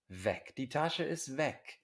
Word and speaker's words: Weg: is not capitalized when it's lower case it's pronounced vec indeem taxi vohin vistu vohin where to vohin